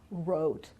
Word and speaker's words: wrote: Right, wrote, rap, wrong, or wrist. Everything starts with an R, so the sound R, but in fact we don't pronounce the W here, right?